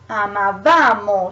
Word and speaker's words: amavamo: the second person plural, the stress goes a little ahead, so goes on the syllable after. So is io amavo, but then becomes noi amavamo, so it goes a little further.